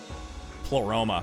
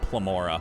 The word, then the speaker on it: Pleroma: Pleroma. This whole time I was pronouncing it wrong. I kept calling it Plamora.